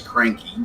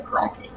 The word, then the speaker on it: Cronky: And I'll pronounce it right. He was there getting mispronounced last night in the other league as Cranky. But sometimes he might get cranky, but we just call him Cronky.